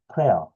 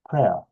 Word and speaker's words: prayer: 자, 여기서 pray, 기도하다, 이하라면 봉사하는 사람, 프레이어 이렇게 발음을 하면 기도하는 사람이 되는 거죠. 근데 기도하는 사람의 남자들과 여자들이 된다. 말이 좀 안 되죠. 그래서 이 부분은 짧게 prayer, prayer, prayer 하면 그 자체가 기도, 기도문 이런 뜻이거든요.